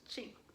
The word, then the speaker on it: Qing: The Manchu dynasty happened in 1644, and it was also the Qing dynasty, Q-U-I-N, but it's pronounced Qing.